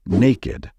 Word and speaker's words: naked: However, this word is exceptional and should be pronounced as naked. Pay attention to the ending of this word. It's ed, naked.